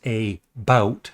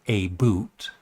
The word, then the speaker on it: about: Plus, the word about is pronounced a about, not a boot.